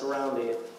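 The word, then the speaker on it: harambee: There is a word in the Swahili language pronounced harambe.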